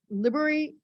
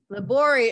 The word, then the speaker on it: Libory: very rural town in Liberty, Illinois. Did I say it right? Libory, Illinois. His Saint Libory.